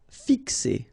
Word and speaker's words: fixer: Fixer. Okay, remember X here, x, fixer.